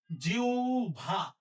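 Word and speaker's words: জিহ্বা: আবার বলি হ ব যুক্ত বর্ণ থাকলে উচ্চারণ লেখার ক্ষেত্রে ব সবসময় ভ হবে হ এর জায়গায় উ লিখতে হবে যদি তার ঠিক আগে ই উচ্চারণ হয় যেহেতু জি হচ্ছে জি হচ্ছে ই উচ্চারণ হচ্ছে তাহলে আমরা এটা কি লিখব প্রথমে জি লিখলাম এর জায়গায় উ লিখতে হবে আর ব এর জায়গায় ভ দিতে হবে তাহলে হবে জিউভা জিউভা তাহলে এটা হচ্ছে জিউভা ভবিষ্যৎ ব্রাহ্মণ শ্রদ্ধাস্পদ মহত্ব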